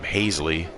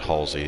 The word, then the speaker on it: Haseley: the Phillies only run Adam Haseley not Halsey as it's pronounced in the game two for three for